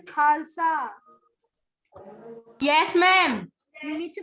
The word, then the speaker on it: Khalsa: Hamad, is it Khalsa? Is this the correct pronunciation? Ma'am, Ma'am, Khalsa. Khalsa, it is Khalsa.